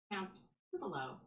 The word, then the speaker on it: Tupelo: Tell me how to pronounce tupulo or tupollo in Mississippi. Tupelo Tupelo Tupo. Tup Tupelo. Tup Tupelo. You got it.